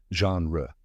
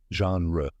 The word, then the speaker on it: genre: measure followed by anra let's break it down genre Say it With Me Slowly genre great now what does genre mean genre is